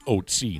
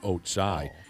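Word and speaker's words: Ötzi: He says the mummy is, the pronunciation of its name is Otzi, not Otsai.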